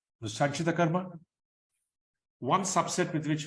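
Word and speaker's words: सञ्चित: So the three correct pronunciations for the word is sanchita karma, no long vowel there.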